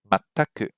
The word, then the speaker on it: 全く: 全く、 Mataku, mataku, and 全然、 zenzen. Hey, those words have the same first character, but it's pronounced completely differently.